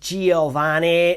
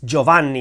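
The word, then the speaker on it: Giovanni: joani Bach it's not Giovani it's joanni it's not Giovani it's joanni joanni bacho and his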